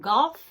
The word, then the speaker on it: golf: It's called golf. And yes, it has a hard G.